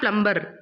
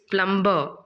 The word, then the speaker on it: plumber: It's not plumber, it's plumber.